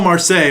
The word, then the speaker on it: Marseille: Marseille is a city in France, so you're off by one syllable.